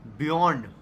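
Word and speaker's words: Björn: It is said as Beyond.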